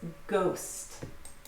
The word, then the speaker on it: ghost: So you just pronounce it as a G at the beginning. There's no difference between the G or the GH. It's ghost.